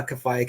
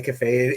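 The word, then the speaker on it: Kafei: year ago yeah so how do you say your name k-a-f-e-i on uh cafe cafe either is fine it's from a video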